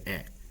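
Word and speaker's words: へ: You can see that it's the hiragana he, but it's actually pronounced as e.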